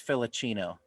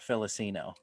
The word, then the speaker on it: Filicino: It's Filicino, not Felicino. And we all just laughed because it was like, oh my gosh, I didn't pronounce it right, so it's all wrong.